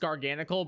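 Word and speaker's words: Garganacl: It's just like Garganacci. Like I know it's pronounced Garganical, but nah, it's Garganacci in my heart.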